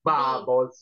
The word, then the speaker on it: Babols: Infatti tanta gente delle volte si sbaglia pure, scrive buble, invece noi Invece Bubbles, B-A-B-O-L-S. Bubbles. Come si Ah, pronuncia, si scrive?